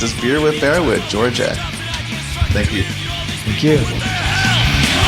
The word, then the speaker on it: Djordje: Djordje.